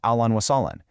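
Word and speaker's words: أهلاً وسهلاً: For a more all-purpose hello, you can use ahlan wa sahlan.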